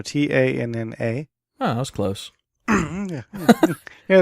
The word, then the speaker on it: Tanna: Tanu? No, Tanna.